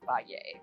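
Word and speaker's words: Fage: it's spelled like f but you need to pronounce it Fay so you love Fay and we eat it every single day day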